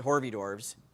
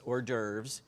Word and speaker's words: hors d'oeuvres: And I want to mispronounce it hors d'oeuvres, but that's not it. It's hors d'oeuvres, because I don't speak French.